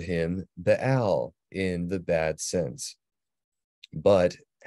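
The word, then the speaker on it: בעל: This is with a double pathak. So Baal is how that would be pronounced, and it means Lord or owner.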